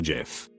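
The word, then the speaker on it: GIF: went up and said it's pronounced jif ajif jod himself could come down and tell me that i wouldn't believe it it's jif forever bye whoever put the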